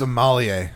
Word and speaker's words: Amalie: That's not Emily. It's a French name. It's Amalie.